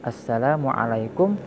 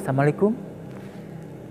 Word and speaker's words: Assalamualaikum: atau salam yang kedua bertahan Salam Assalamualaikum bukan semiku atau sama alaikum jawabannya Waalaikumussalam bukan kumsalam